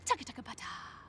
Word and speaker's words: TCTHTBT: Capital T, hashtag TBT, throwback today, or for short, TCTHTBT, bracket TBT, pronounced taka-taka-pata.